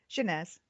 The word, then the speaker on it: Chanaz: Chanaz. That's right. Chanaz. Okay. All right. So you do say the Z in this one.